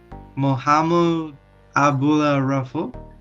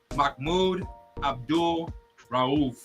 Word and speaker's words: Mahmoud Abdul Rauf: Is he right, audience? That is former NBA player Mahmoud Abdul Rauf.